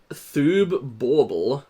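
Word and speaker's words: Borble: Pilcro PhD present um thoobble and that's spelled B O R B L E. It's like a bble b a u b l e but it's also a borb.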